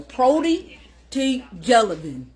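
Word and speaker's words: Protoevangelium: Some of y'all probably wouldn't have been able to pronounce it correctly the first time either. Protovangelium.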